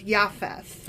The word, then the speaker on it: Japheth: And actually, I've been pronouncing JFTH wrong because the J is a Y. So, it's Yafth.